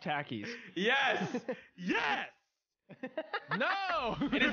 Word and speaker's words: Takis: now on it is now treason if you pronounce it takis it is pronounced takis yes yes no it is not hannah montana